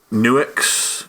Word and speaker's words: Nux: search was the Nuix, or I'm going to call them Nux. I'm pretty sure they're like Nuix or whatever. Yeah. It's spelt Nux, so they're getting called Nux. It's like Cotone, just deal with it.